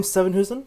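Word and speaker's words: Sevenhuysen: They also have Tim Sevenhusen.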